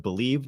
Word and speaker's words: BLEAV: Make sure to use our promo code BELIEVE, that's spelled BLEAV, to receive your rewards.